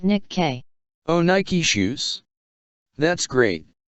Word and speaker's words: Nikke: No sir, it's pronounced as Nikke and it's not about shoes and has nothing to do about shoes.